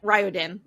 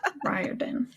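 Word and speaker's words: Riordan: I've heard it pronounced so many different ways. I I looked up interviews with him. Ryodin. Ryodin.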